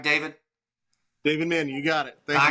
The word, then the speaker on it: Mannion: Did I pronounce that right? David. David Manion.